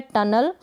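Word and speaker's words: tunnel: अब यहाँ पर ये जो डबल एन है इसको हम न पढ़ेंगे, डबल एन आएगा उसको भी हम न प्रोनाउंस करेंगे, और यू को यहाँ पर अ पढ़ा जा रहा है, और यहाँ पर ये जो ई है इसको भी अ पढ़ रहे हैं रूल के अकॉर्डिंग।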